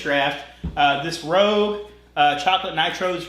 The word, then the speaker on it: Draught: So it's spelled Draught, but Guinness Draft.